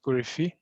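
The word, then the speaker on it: Korifi: i believe it's pronounced corifi which will make actually yeah the the the proper pronunciation in greek is a stress on the last syllable yeah but i think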